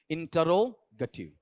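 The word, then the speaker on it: interrogative: में इंटेरोगेटिव ठीक है इंटेरोगेटिव इंटे नहीं इंट फिर रे नहीं रो फिर गेटिव नहीं गेटिव इंटेरोगेटिव चलो यहां पर देखो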